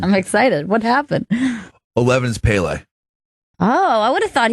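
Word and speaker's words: Pelé: knows just do different generations man and it's pronounced Pele Oh Pele 12 is Jim Brown Jim Brown obviously dominated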